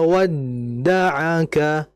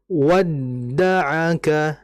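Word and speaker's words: ودعك: Ma waddaaka waddaaka dalnya terdapat tasdid. Kita hentak. Ma waddaaka. Ma waddaaka. Dalnya dihentak.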